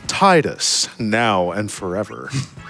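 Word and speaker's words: Tidus: Titus is the winner right now. Let's go. $5. Uh, got 25 bucks from Peanut 153 who says, um, it's actually pronounced Teeds.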